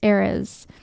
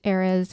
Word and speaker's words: Ares: the Greek name was Ares. Ares is how it's spelled. Very close to Aries, but I think pronounced a little differently.